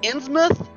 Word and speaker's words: Innsmouth: pronounced Innsmouth.